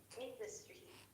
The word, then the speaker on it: industry: industry in the industry the stress is on the first syllable industry industry protect industry oh